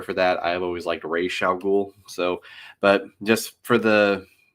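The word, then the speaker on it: Ra's al Ghul: led by a man named Well, technically it's Real Ghoul. That's how it's normally supposed to be pronounced, but in the movie they called him Razal Ghoul.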